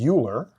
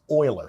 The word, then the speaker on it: Euler: the last name as Euler but actually it's pronounced Euler so his name is oil this is Euler's number